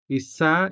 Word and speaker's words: isa: So to recap, Isa is spelled with the letter I and sounded with the native Hiligaynon vowel E.